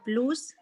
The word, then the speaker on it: blouse: Orange blouse. Blouse. Blouse. Blouse. Blouse. You know, when you say out, O-U-T, out, blouse. Out. Blouse. So blouse instead of a long O sound, okay?